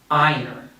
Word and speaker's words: iron: it's just practice okay instead of this r o let's imagine we have an e r and i'm gonna say this letter just like the letter of the alphabet so i'm gonna say i and then earn iron like iron man okay the next word